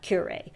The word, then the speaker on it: Kure: writing shall we okay so the pronunciation if i'm if the pronunciation website was right it's uh curate so i wasn't totally wrong and azure is the